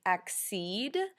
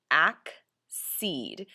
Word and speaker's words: accede: The first word is accede, and when you're pronouncing this, you want to make sure it's accede instead of accede, which is a common mispronunciation.